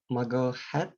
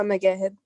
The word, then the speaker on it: Magahed: Maha Magahat, am I pronounced your name correctly? It's Maha Magahed.